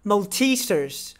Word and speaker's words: Maltesers: Number 1, Maltesers.